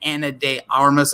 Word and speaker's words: Ana de Armas: And Ana de Armas, I believe I'm saying her name correctly.